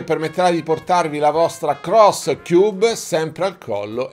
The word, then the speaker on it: Xros: Mi ha detto: Tato, attenzione, perché non si pronuncia X-Ross, bensì Cross.